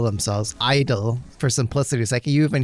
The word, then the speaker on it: I-DLE: They're keeping the way it's spelled out, but the way you pronounce it and say it was just I-dle, I guess, is their preference moving forward.